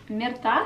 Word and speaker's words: Mirta: This is a lovely bag from Myrta, or Mirta, if I try and say it properly in an Italian way.